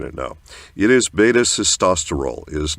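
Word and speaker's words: beta-sitosterol: So we've got a whole lot of people mispronouncing it now. It is beta cestosterol. It is not betaile.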